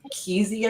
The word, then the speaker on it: Kesey: So Kesey, I want to say how to pronounce it.